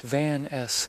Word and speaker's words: Vance: I headed back to the Blue Note in Harlem, where Charlie Vance, pronounced Van S., was tuning his sax, the air thick with the tang of whiskey and cigarette smoke.